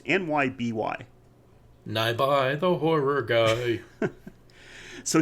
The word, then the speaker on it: Nyby: to say this wrong is it nyoy or Nei I I don't really don't know how to pronounce that word it's nyby nby the horror guy